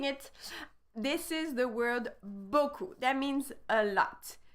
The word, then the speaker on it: beaucoup: So there is two syllables here that you really need to get on point. The first one usually is not too complicated when you know that E-A-U is the sound O, beau.